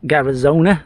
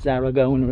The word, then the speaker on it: Zaragoza: Not far out of Garazona, is that Garazona, whatever it's called. Lovely and quiet. Where we are now, probably about an hour out of Zaragoza. That's how you pronounce it, Zaragoza, isn't it?